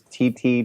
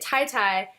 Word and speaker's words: Titi: Yeah, so it's Titi, but my grandfather just decided that he felt like being different. And so I was pronouncing it Tai Tai for about 28, 29 years, and then my dad told me that we've been pronouncing it wrong as a whole family.